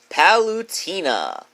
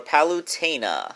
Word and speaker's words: Palutena: the list number ten palutena or palutena however you want to pronounce it I think I've heard it both ways I love palette a